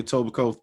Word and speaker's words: Etobicoke: Rocking the Etobicoke Thunder. Did I say it right? Etobicoke? Topical Thunder, bro. Bro. Yo, most people, they be like, Etobicoke Thunder. Oh, man. Facts. The KE are silent.